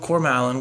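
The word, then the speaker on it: Cormallen: the silmarillion and everything every name that tolkien uh has configured that begins with a c has the k sound um because i remember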